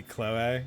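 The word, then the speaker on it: Chloé: See, I've been playing Fire Emblem Engage now, just like, I see Chloe. It's Chloe! Because she has specifically the accent on the E or whatever.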